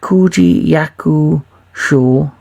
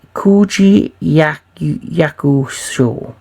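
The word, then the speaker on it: Koji Yakusho: I'll probably butchered his name like I butchered everyone else's name during this, you know, my top 10. But Koji Yakuzo, that's it. Koji Yakuzo.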